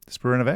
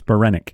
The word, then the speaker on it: Spiranac: I've already seen where Paige Spiranovac, is that how you say her name? It's Paige Spiranac. Yeah. Spiranac.